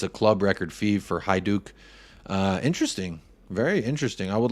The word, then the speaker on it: Hajduk: It's pronounced Hajduk.